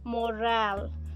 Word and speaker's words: morale: a schwa sound but in the second word we stress the second syllable and we uh we pronounce the a as an a sound okay so we will say as morale so this morale is related to workplace